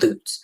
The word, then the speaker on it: Lutz: My family all live in a place immediately north of Tampa that's called Loots. Spelled the same as Lutz, but pronounced correctly.